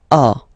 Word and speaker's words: as: Okay, first one, j'ai, tu as. Then comes il, so masculine form, he. Okay, il, he. Elle, she. Okay, and then a. So as you can notice, second form as is pronounced a, and this is a.